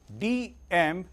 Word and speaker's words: DMAIC: The spellings are DMAIC and the pronunciation is DMAIC.